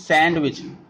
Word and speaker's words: sandwich: we pronounced sometime sandwich D is a silent here we do not use sandwich we read it sandwich